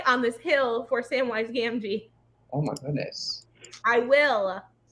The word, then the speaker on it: Gamgee: It's Gamgee.